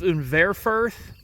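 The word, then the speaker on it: Unverferth: Orthman is owned by, I believe, Unverfirth is the way you're supposed to pronounce that.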